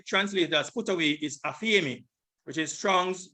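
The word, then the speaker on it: ἀφίημι: Put away is G863, aphiemi. This is the pronunciation. Strong's G 863. Aphiemi.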